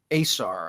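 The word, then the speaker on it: Ausar: the Thompson Twins um Amir and Asar I believe is how he pronounces it who also are playing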